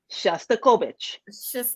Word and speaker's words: Shostakovich: Petra Shostakovich.